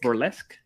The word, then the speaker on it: burlesque: that we have uh Bruce lesk uh I think that will be more or less burlesque or less will be the correct way to pronounce it that means that